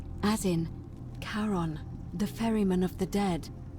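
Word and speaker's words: Charon: it's just as you described it only your pronunciation is a little off the name you heard wasn't Karen it was c h a r o n as in karon the Fairman of the dead car on who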